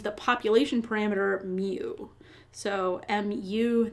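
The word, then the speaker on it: μ: population parameter me so muu that's the Greek letter um it's kind of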